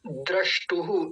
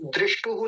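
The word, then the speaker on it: द्रष्टुः: तदा द्रष्टुहु, दृष्टुहु नहीं लिखा हुआ है, द्रष्टुहु लिखा हुआ है,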